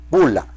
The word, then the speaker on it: bulla: Eso se llama bula, bula, ¿de acuerdo? Se escribe bulla con doble L, bula.